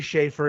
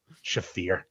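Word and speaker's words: Shaffir: Ari Shafir, Ari Schaefer, if you will, if you want to pronounce it phonetically like an asshole. Shafir.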